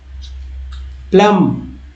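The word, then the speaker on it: plumb: प्लॉन्क, प्लुक, प्लूप, प्लॉप्स, plots, applause, प्लॉक, applause, प्लोज, प्लक, प्लूज, प्लफ, प्लग्स, प्लूमा, प्लम, प्लम बी नहीं पढ़ना है क्योंकि बी साइलेंट है।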